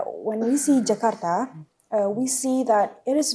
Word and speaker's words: Jakarta: When we see Jakarta, okay, I'm not going to say it like, Jakarta. yeah, Jakarta, like the US people. I'm going to say when we see Jakarta, we see that it is very developed.